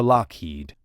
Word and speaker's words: Lockheed: The spelling of Lockheed was changed to Lockheed to prevent mispronunciation.